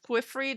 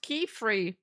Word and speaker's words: Quiffrey: Imagine you're in bed with Quiffrey. That's the name you gotta like say out loud. That's the name you gotta moan out. Quiffrey. Mr. Quiff. Very unfortunate. Oh, it's pronounced Keyfree.